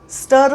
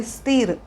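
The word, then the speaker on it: stir: English मध्ये म्हणतात स्टर एस टी आय आर जरी उच्चार असला तरी स्थिर असं नाही उच्चार करणार आहोत आपण आपण म्हणणार आहोत स्टर स्टर स्टर द व्हेजिटेबल्स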